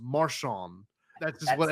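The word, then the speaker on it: Marchand: It's spelled Marand M A R C H A N D but it's pronounced Marshon.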